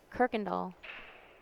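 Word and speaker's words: Kuykendall: It's pronounced Kirkendall. If it's spelled Kuyken. Yep, that's how it's spelled. Kirkendall. Well, that just does not even look like anything how I would ever say it.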